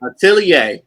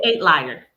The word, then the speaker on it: Atelier: How do you say that last word? Atelier. I did not know that. I've been calling it 8 Liar.